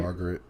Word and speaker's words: Margaret: say your name right Margaret oh it's Margaret I hate the Japanese spelling of the name because it's spelled margarit mhm it I don't get it why it's spelled like that or margerit is how